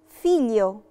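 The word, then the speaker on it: figlio: فيليو، فيليو يعني ابن، ما نطقناش برضو فيها خالص لا لترة جي، لأن الجي ال جم ما بين اتنين فوكالي، في فوكالي قبليها وبعديهم.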